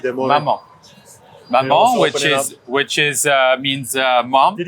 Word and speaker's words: maman: You have to say maman. So maman is mom in French.